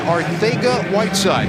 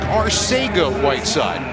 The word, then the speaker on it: Arcega-Whiteside: Arcega-Whiteside. Now, it looks like Arcega-Whiteside, but he's been asked, and in the King's Spanish, that C is pronounced like a TH.